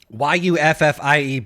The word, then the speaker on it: Yuffie: it any other way yeah well congratulations for pronouncing it correctly but uh I'm just saying y-u-f-f-i-e that's yuffie that's how you